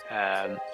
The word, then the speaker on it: Nenya: Let me get this right. I always get this wrong. Nenya. One of it's Nenya, isn't it? I always want to say Naya, and it's the ring